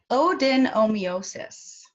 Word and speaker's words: adenomyosis: I'm pronouncing it correctly, adenomyosis. Can you Very, very close. Yes, it's odenomyosis.